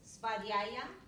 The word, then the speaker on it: svadhyaya: Okay, so this niyama, it's pronounced svadhyaya.